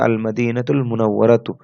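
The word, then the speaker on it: المدينة المنورة: তো আরবি উচ্চারণ হবে আল মাদিনাতুল মুনাওয়ারাতু।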